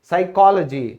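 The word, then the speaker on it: psychology: फिर है मनोविज्ञान, साइकोलॉजी, तो इसमें क्या है, यहां हमारा एस है, उससे पहले पी आ गया तो साइलेंट हो गया।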